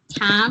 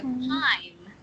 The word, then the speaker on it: time: when you said time, I don't think it was the vowels are pronounced correctly, so I think you pronounce it more like tam or something. So it just be like time rhymes with like dime, mime. Yeah. IME is like I'm.